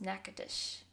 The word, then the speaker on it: Natchitoches: So 1715 is when the French officially had settled in what is called Natchitoches. It's the craziest spelling for how it actually is said. It's spelled Natchoches, and it is pronounced Natchitoches.